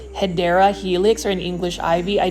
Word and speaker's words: Hedera helix: video without seeing a Hydra helix, or more so to say the correct pronunciation, it is a Hedera helix, or an English ivy.